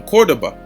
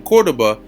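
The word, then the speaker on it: Córdoba: so it says um cordoba all right even though it's pronounced with a v um so let's read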